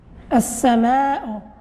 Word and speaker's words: السماء: السماء. تبارك الله عليك خديجة، تبارك الله عليك إلياس. ونكتبوها مكان النقط السماء، كيف ما كنلاحظوا اللام ما عندوش السكون بطبيعة الحال ما كننطقوش به، الحرف اللي من بعده بالشدة، وفي آخر الكلمة كتصبح غير حركة واحدة.